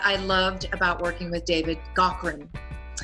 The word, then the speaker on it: David Gaughran: One of the things I have to say that I loved about working with David Gaughran, and I know that's the correct way to say it because I actually emailed him.